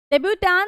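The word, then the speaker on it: debut: डेब्यूट इसका मतलब होता है ट नहीं प्रोनाउंस करते।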